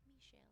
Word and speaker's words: Michel: I like how you put just enough of a French accent on there. Michel. Yeah. Yeah. That is how you say it. I just always said Michelle Gondry, and I thought it